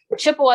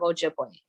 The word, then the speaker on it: Ojibwe: in their own language chippewa is a mispronunciation of ojibwe so all those words